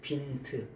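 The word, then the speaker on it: Wind: 뭘로 번역했냐면 빈트라고 번역했어요 빈트 요거를 독일 말로는 빈트라고 읽어요 영어로 말하면 윈드가 될 텐데 윈드가 될 텐데 독일마루는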